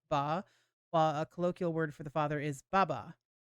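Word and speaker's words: 八: Taiwan, it's celebrated on August 8th, as the Chinese for the number 8 is pronounced ba, while a colloquial word for the father is baba.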